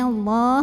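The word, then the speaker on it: الله: Lam pada lafaz Allah dibunyikan secara tafkhim karena huruf sebelumnya nun berbaris fathah. Maka cara bacanya adalah ditebalkan, pangkal lidah dinaikkan. Jadi bunyinya Allah bukanlah.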